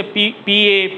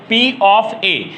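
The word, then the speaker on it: P(A): ऐसे तो बच्चे उसे PA, PB, PC ऐसे पढ़ते हैं, तो ऐसे भी आप पढ़ सकते हैं, कोई दिक्कत नहीं, लेकिन उसका सही उच्चारण है P ऑफ A, यानी घटना A की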